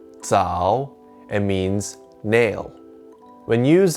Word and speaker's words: 爪: of grabbing on to something this character is pronounced tsao and means nail when used as part of